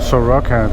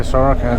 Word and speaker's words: Soroca: Every time I pronounce it Soroca, they don't understand, so we'll try Soroca instead.